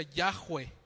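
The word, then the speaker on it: Yahweh: se llama que bueno se pronuncia yahwe yahwe Entonces cuando le preguntaban eso y decía yahwe y esa palabra yahwe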